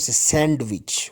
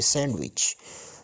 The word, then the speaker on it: sandwich: then again sandwich sandwich we don't send which we say sandwich then handsome handsome Edge